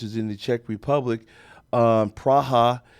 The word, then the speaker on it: Praha: Prague, which is in the Czech Republic, Praha, as it is pronounced correctly, but I would encourage you to go to Budapest because there are women like Amir.